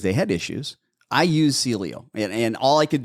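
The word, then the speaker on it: Sileo: there's a new medication relatively new it's called Celio s i l e o spell that again s i l e o Celio yes and that works really quick um it's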